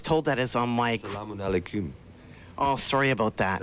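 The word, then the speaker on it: السلام عليكم: Shulamakum? No. The reason I was told that is on my... Salamun alaikum. Oh, sorry about that. Salamun alaikum. Actually, the Hebrew version is more like your pronunciation, actually.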